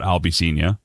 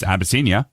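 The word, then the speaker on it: Abyssinia: And then Abbyia, uh, which is actually how it's said, not albby, but it's abbiscia is something that I took off a mash and Colonel Henry Blake.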